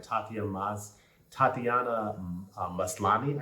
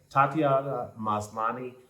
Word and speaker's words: Tatiana Maslany: And Tatiana Maslany, I believe, is how we pronounce her name. Tatiana Maslany plays Jennifer Walters in